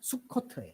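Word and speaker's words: סוכות: 수꽃이 히브리어로 코트예요 수컷 수콧 수콧 근데 초막이라 히브리어가 수요 같아서 이중적인 의미가 있는 거 원래 그 컷이라고 하는 그 지역 이름이 수콧이라고 수콧 정확하게 끝까지 발음하자면 수코트 근데 막지한 절기를 만들어서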